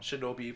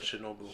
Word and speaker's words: Shinobu: Shinobi, but Shinobu.